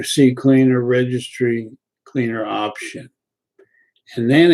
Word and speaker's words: CCleaner: reg clean though actually ccleaner today is even better c cleaner download it it's a little small program is called ccleaner just the way it's spelled c cleaner two c's and on the left